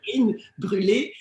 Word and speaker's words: Karine Brule: In French, it's Karine. Karine. Karine Brule? Karine Brule. It's like creme brulee.